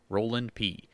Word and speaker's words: Roelandp: It's spelled Roelandp, Roland P, on STEEMIT.